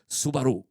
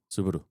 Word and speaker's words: Subaru: Look, I think if you it's one of those ones almost like Subaru. If you say it fast the way the Japanese do, it's both. So, it's neither Subaru or Subaru. It's Subaru. Subaru.